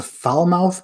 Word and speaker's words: Falmouth: the brubaker maker says there is a foul mouth kentucky pronounced falmouth why would they do